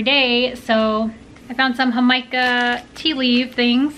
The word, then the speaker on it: jamaica: Jamaica is how you say it in Spanish, and that's how I learned about it.